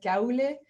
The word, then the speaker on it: Kuile: Elena, Sara, Miller, and actually Kuile, we've Americanized it, but it's actually Kuile.